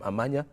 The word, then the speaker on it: Amanya: I really need to get the right pronunciation of the name Amanya. It is Amanya.